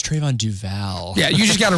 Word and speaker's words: Duval: It's Trayvon Duval.